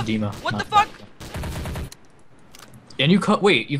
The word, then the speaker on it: Dima: okay it's a server it's actually pronounced it's Dima and you cut wait you call me Dimmie recentiy me first and